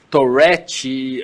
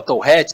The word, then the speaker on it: Tourette: A síndrome de Tourette, ou Tourette, ou, né, o jeito de pronunciar, tem gente que fala Tourette, tem gente que fala Tourette, ela é uma condição clínica que afeta 1% da população.